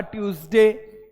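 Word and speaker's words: Tuesday: Monday इसके बाद देखो आपका ट्यूसडे यहां पर देखो ई क्या ई पढ़ते हैं नहीं पढ़ते हैं तो ये इंग्लिश का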